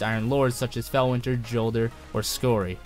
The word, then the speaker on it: Jolder: Lord, such as Felwinter, Jolder, or Skori, or Yolder if you want to say it like that.